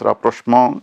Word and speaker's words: rapprochement: But we will consider two of the most widely accepted pronunciations. One is rapprochement, and the other is rapprochement.